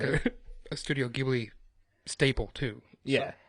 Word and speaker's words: Ghibli: I believe it's Ghibli.